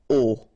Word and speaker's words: au: You write it au, you pronounce it o.